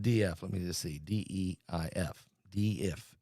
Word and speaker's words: Deif: D-E-I-F. Deif. Deif is how you say it.